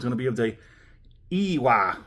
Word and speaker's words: Iwai: Today's full review episode is going to be of a ewah. Sounds like u sounds like ew. Ewa. So that's exactly how you pronounce it.